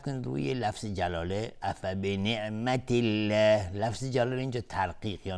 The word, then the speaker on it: الله: افبنعمت الله، اینجا دقت کنید روی لفظ جلاله افبنعمت الله، لفظ جلاله اینجا ترقیق یا نازک تلفظ میشه و خیلی هستن که اینجا اشتباهن